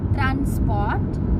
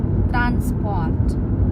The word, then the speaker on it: transport: Nah, kalau misalnya ini di depan seperti kata Sprache atau Sport, nah itu S-nya dibacanya agak sh ketika ketemu P. Tapi kalau misalnya seperti di kata ini, transport, itu SP-nya dibacanya biasa aja, nggak perlu dibikin sh, transport. Tapi kalau misalnya agak di depan tadi seperti bentuknya Sprache, Stunde, itu dibacanya agak sh gitu.